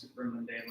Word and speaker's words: supramundane: How do you pronounce supramundanes? Supermundane, like above.